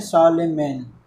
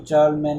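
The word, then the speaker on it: Charlemagne: अब इसका एक परफेक्ट एग्जांपल हो जाता है एम्पायर ऑफ शार्लेमेन, इसकी प्रोनाउंसिएशन है शार्लेमेन, ठीक है। कभी कोई चार्लमैन वगैरह बोले तो इसकी प्रोनाउंसिएशन है शार्लेमेन।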